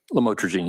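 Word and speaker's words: lamotrigine: about the u the lamel otherwise known as lamatrogene. Did I pronounce that right? Lamotrogene.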